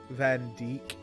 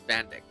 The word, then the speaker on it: Van Dyck: Did I mention it's really stupid that's not his actual pronunciation for his name? Van Dyke, isn't it? His actual pronunciation is Van Dyck.